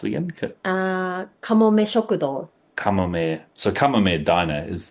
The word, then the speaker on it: Kamome Shokudo: So how do you pronounce it again? Kamome Shokudo.